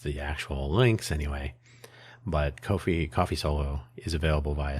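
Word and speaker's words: Ko-fi: But also, neither buy me a coffee nor coffee uh Kofi. I say it differently because they spell it funny.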